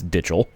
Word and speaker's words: McDitchell: I would pronounce it like Michael, but I do not want to say a slur every time I say his name, so it's Ditchell.